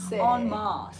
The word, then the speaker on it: en masse: In mass, like, but she pronounced it en masse. En masse.